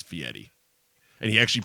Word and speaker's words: Fieri: right before me and he was calling him fiery very and it got to a point where guys stopped the interview and said have you ever watched triple D I say my name 47 000 times it's Fieri and he actually pronounced ego's fee Eddie it's